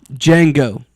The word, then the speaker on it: Django: Django or no sorry D J A N G O the D is silent.